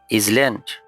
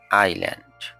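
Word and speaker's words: island: ইজল্যান্ড নো এটি মূল উচ্চারণ। এটার সঠিক উচ্চারণ হবে আইল্যান্ড।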